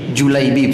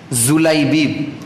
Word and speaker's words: Julaibib: namanya julaibib siapa namanya julaibib sebagian orang membacanya pakai Zai zulebid pakai gym julaibib rodhiyallohu Anhu anak muda